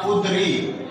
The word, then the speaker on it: قدری: اس کے بعد ہمارے پاس جو لفظ ہے وہ ہے کاف کے اوپر پیش، دال کے اوپر جزم، رے کے نیچے زیر، یہ چھوڑ کے یہ کے اوپر جزم. یہ لفظ بنے گا قدری.